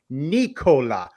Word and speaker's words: Nikola: It's Nikola. Now, Joe Jokic pronounces it Nikola, so there is a difference.